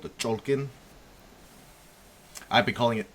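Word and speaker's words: Cholq'ij: So from what I understand the the proper pronunciation of it is called the cholken. I've been calling it Tolken.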